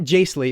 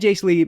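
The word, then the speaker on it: Jaissle: the director he met matt jacely is how you would say his name matt jace lee made two films prior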